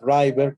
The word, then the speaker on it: Driver: Y en esta comunidad de perdón, el autor, que se llama Juan Driver, se escribe así Driver, pero se pronuncia como el driver, como los choferes, chofer, quien maneja, Juan Driver, nos explica qué es lo que hay que hacer.